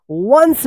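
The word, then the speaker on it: once: तो देखिए यहां पे ओ एन सी ई क्या पड़ेंगे? वंस पड़ेंगे।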